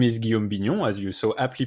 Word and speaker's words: Guillaume Bignon: about you yeah so uh my name is guillaume binyun as you so aptly pronounced uh yourself uh i'm french uh you